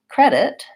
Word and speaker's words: credit: it's unstressed and in the word credit credit we have the AA vowel first that's our Red Tent vowel and we have the vowel second and the stress in credit is on the first syllable so it should be long short credit credit and this is a very light sound you also notice that I didn't say credit or with a pronounced T sound I use what's called